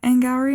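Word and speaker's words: Auli'i Cravalho: Should we talk about Anne Gowrie now? Yes. Which, by the way, that is how you say her name.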